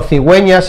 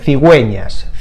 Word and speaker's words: cigüeñas: So that are the cigüeñas. Cigüeñas. And in this case we pronounce the U, cigüe, because you can see there are two dots on the U.